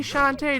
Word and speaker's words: Shantae: grabbed the meis from apparently shantae doesn't like satay despite her name rhyming with it but i seem to